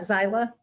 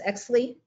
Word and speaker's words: Xyli: Oh, that's not Xyla, it's Exley. It's Yeah.